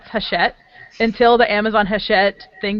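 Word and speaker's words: Hachette: I'm I didn't even actually know how to pronounce haset until the Amazon haset thing became news and I'm like oh that's how you pronounce them because I was just calling them Hatchet like you hit things with but anyway they're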